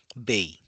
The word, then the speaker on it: 米: इस प्रतीक का प्रयोग करते हैं, और इसकी उच्चारण तब होती है बेई।